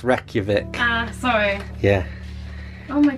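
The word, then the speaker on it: Reykjavík: um I can always edit it out it's pronounced Reykjavik ah sorry yeah oh my God so what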